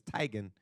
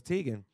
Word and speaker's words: Teigen: Thailand but her father's Norwegian and the official pronunciation of their last name is Tigan but she got tired of correcting people when